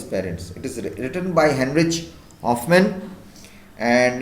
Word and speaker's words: Heinrich Hoffmann: So the writer is a German, Heinrich, it's actually pronounced as Heinrich Hoffmann.